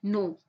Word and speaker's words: know: नो, नो में के silent है, नाइट में के साइलेंट है, एच में हाई, हाई में जी साइलेंट है, ओके।